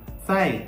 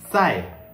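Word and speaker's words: 再: So how to say zai? Zai. Okay. It is saying that you have to pronounce it like the DS sound in the word yards or kids.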